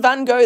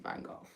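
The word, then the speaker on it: Van Gogh: Oh, and we found a random Van Go that we've never heard about. Oh, wow. I've never heard pronounced Vangov.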